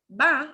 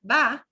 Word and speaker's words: va: you hear that word va, it's going to really sound like a B, a very soft B as in boy, B, big. They do not pronounce the letter V like a ¿Cómo te va?